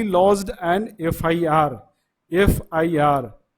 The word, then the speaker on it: FIR: उसी तरह ही lodged N FIR, FIR ए, FIR ए, मतलब कि FIR के पहले हम एन का प्रयोग करेंगे।